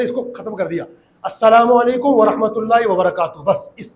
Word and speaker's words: السلام علیکم: تو واجب ادا ہوگا۔ سلام اور جواب سلام کا صحیح تلفظ یاد کر لیجئے، پہلے میں کہتا ہوں پھر آپ دہرائیں گے، کہیے السلام علیکم، اور صحیح جواب کا طریقہ ہے وعلیکم السلام۔ اللہ پاک ہم سب